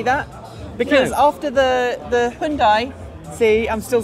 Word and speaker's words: Hyundai: I hate to say that because after the Hyundai see I'm still saying it right you are